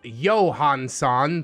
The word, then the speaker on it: Johanison: I just remembered was Albert johanison pronounced Johansson for some freaking reason it's a little